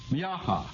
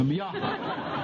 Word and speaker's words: Miaja: Now, I'm going to have enough trouble pronouncing them, much less identifying them. The first is Miaha. Now, I'm not laughing at anybody here. Miaja.